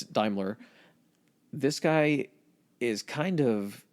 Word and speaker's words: Daimler: however you pronounce it I think in the states it's more damler cuz when they say damler Chrysler but it's Daimler this guy is kind